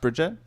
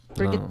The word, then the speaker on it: Brigitte: Wait, it's not pronounced Bridget? Bridget? Brigitte.